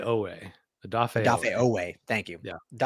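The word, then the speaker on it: Odafe: I always say is I always say his name wrong. Um Odaf Ooway. Adafay, thank you.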